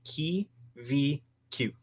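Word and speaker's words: Kiwikiu: Kiwi-Q is pronounced Ki-vi-Q. Ki-vi-Q. Ki-vi-Q. And I kind of blend the very ending. It's an I and a U, so it goes ew.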